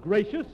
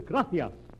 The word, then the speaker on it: gracias: okay muchas gracias amigo no no no not gracious that word is gracias you see in Spanish the see is pronounced th graffia you see th your mind